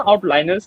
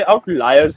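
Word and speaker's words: outliers: और ना आउटलाइनर्स नहीं होते। आउटलाइयर्स होते हैं। ओके। प्रोनाउंसिएशन में थोड़ा सा डिफरेंस है। इट्स आउटलाइयर्स।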